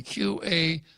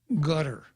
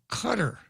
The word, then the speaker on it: Qatar: TV q-a-t-r-a-r excuse me q-a-t-a-r is not pronounced Qatar it's gutter or its cutter because the Q in Arabic represents a sound that doesn't exist in English it's back at the